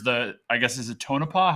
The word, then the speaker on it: Tonopah: slide that compares the I guess is it Tonopah how do you pronounce that yeah that's right yeah okay I